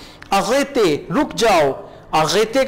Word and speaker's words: arrêtez: e के ऊपर accent mark, इस accent mark को भी आप वही a pronounce करेंगे. arrêtez कैफे वाला जो accent mark है ना वही होगा ये भी. arrêtez रुक जाओ.